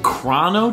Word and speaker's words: Chrono: Obviously, most famous for composing the Chrono Trigger series.